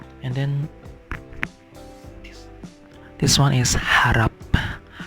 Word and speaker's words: harap: And then this one is harap. So the H is pronounced clearly. It's not it has a sound, so some languages doesn't pronounce H like H. So harap, it means hope.